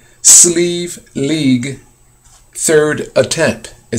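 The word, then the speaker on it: Slieve League: And the way sleeve is spelled, not in the traditional way, S-L-E-E-V-E, it's not spelled like that. So sleeve is spelled in this sense, S-L-I-E-V-E, league, and then it says third attempt.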